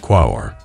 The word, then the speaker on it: Quaoar: As we voyage deeper into the captivating cosmos of the Kuiper belt, we find ourselves in the company of Quaoar, pronounced Quaoar, a notable object that predates most discoveries in this icy frontier.